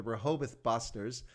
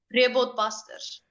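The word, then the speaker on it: Rehoboth Basters: I'm going to mispronounce it, I'm going to pronounce it in English, but the Rehoboth Busters. But actually, how do you actually correctly pronounce that word? Rehoboth Busters.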